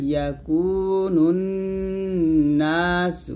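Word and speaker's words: يَكُونُ النَّاسُ: নুন নুন পেশ নুন, নুন আলিফ জবর না, ইয়াও মা ইয়াকুনুন না, সিন পেশ সু, ইয়াও মা ইয়াকুনুন নাসু, ইয়াকুনুন এখন গুণনা করবেন।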